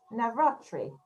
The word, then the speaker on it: Navratri: it wrong so let's see so happy nava navratri is that right did i say it right